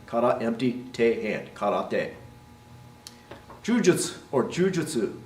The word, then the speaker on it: jujutsu: Jujutsu or jujutsu, right, is often pronounced jujutsu. Well, we get what you mean. You don't pronounce the ending jutsu. That U at the end, jujutsu, does go away, but it probably should sound something more like this, jujutsu, right, or jujutsu.